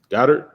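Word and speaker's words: Goedert: Goddard is how you say it.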